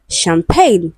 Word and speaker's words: champagne: Option D, we have champagne, which is also a voiceless sound.